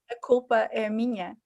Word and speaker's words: A culpa é minha: in Portuguese so that I know how to pronounce it in Portuguese? Helena? A culpa é minha.